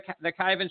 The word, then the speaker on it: Kyvan: their website at cabin 82 dot-com and kyvan is spelled k Y VA n and if your local Walmart doesn't carry their cake Ivan sweet barbecue sauce will request it I'm sure